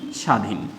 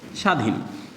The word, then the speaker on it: স্বাধীন: পারব যেখানে বলা আছে শব্দের শুরুতে ব ফলার উচ্চারণ হয় না হ্যাঁ শব্দের শুরুতে বলা